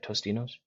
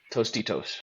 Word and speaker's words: Tostitos: Tostinos. Tostitos.